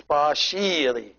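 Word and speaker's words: ⲡⲁϣⲏⲣⲓ: And as you see, this is the Shai, and this is the Eta, which is the one pronounced like E, and then Ro and Iota, which is I. So it's Pa-shiri.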